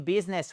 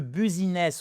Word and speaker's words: business: Anyway, so we are looking forward to doing business with you. Ça ça marche aussi. Doing business with you. Et c'est pas le buziness. On fait pas du buziness because no one understand if you say buiness.